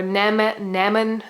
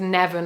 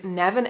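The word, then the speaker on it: Nemain: course uh nevin or nemen um i would personally um pronounce it nevin i'm pretty sure it would have always been nevin m-n-e-m-a-i-n um and those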